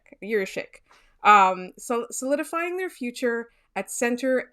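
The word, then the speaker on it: Jiříček: Jiricek. Solidifying their future at center and at right-handed D. Former EOTP prospect writers David St. Louis, who we love, and Mitch Brown, who's at EPR now, are huge Jiricek fans and think that he's the second best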